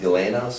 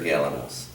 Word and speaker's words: Galanos: Would it be pronounced Galanos or Galanos?